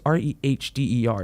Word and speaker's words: Rehder: Then look into their previous history, like Holly Thompson Rader, which is weird because why is it Rader? It's Rehder. It's like Redder, but it's Rader.